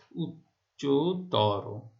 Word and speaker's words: উচ্চতর: যেমন দেখো উচ্চতর, কেমন? তাহলে উচ্চ যোগ তর, তর প্রত্যয় দ্বারা, তম প্রত্যয় দ্বারা গঠিত শব্দের শেষের অটি ও এর মতো উচ্চারিত হচ্ছে।